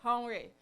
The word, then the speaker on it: Henri: guys, Keith and Henri, I think that's how to pronounce it, it's French. Any French person, sorry, any French in the room? Okay. Henri, okay, that's it, Henri.